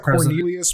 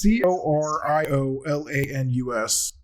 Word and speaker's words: Coriolanus: It looks like Cornelius, but it's not Cornelius. I'm just gonna call him Cornelius. It's C-O President Snow. It's Coriolanus.